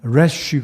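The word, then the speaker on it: רֵישׁ: r 발음도 나기 때문에 정확하게 표현하면 l 발음 보다는 r 발음 래쉬 가 되겠습니다 그래서 이것은 예수 무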